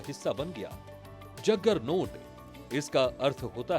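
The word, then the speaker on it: Juggernaut: लेकिन बहुत कम लोग जानते हैं कि जग्गर नोट असल में जगन्नाथ का ही अंग्रेजी रूप है। संस्कृत का शब्द जगन्नाथ है। यानी जगत का स्वामी विदेशी यात्रियों ने जगन्नाथ का उच्चारण अपने तरीके से किया। धीरे-धीरे जगन्नाथ शब्द उनके लिए जगन्नोट में बदल गया और फिर इस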